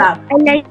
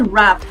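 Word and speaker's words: wrap: Bachchan yes and then we हैड the word रैप and then we हैड the word रैप डब्ल्यू आर ए P right great everybody so this वास our last lesson मैं assessment share कर रही हूं।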